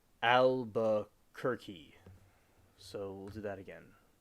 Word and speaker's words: Albuquerque: by the way the pronunciation is of the word is Albukerki. So we'll do that again. All right. So Albuquerque, New Mexico.